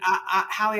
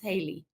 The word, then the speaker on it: Hallie: And Hallie, I haven't had a second. I think she wrote later and said it's pronounced Haley.